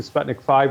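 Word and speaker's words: Sputnik V: What about the Sputnik, which is from the Russian Federation, Sputnik 5, or V as it's pronounced, the two Chinese?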